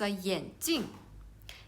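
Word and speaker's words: 眼镜: So we can see the only one difference is second syllable, the one is the first tone and one is the fourth tone, so they have the different meaning.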